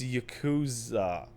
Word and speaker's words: Yakuza: No, no, it's Yakuza.